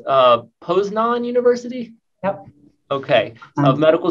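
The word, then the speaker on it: Poznań: And is it pronounced Poznan University?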